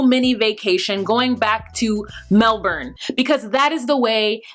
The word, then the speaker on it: Melbourne: vacation, going back to Melbourne, because that is the way that it is spelled. But apparently Ash is like, it's Melbourne. We pronounce it Melbourne.